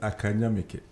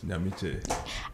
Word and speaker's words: Ackah Nyamike: The name is pronounced Ackah Nyamike. Ackah Nyamike. Ackah Nyamike. Okay. A lot of the times people try to mention it as Nyamiche.